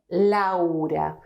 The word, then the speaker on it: Laura: So when we have this in English, we produce a different sound, a new sound. We say Laura, we say Europe, we say, well, 20 is a different word.